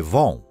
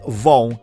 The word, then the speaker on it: von: ele se torna Fritz Von Schmitz e como o v Alemão tem o som de f a partícula de nobreza é pronunciada como f e o sobrenome para